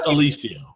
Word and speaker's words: Aluisio: barely pronounce it right it's alicio alicia alicia way too many vowels in there that's just the italian way now colonel is a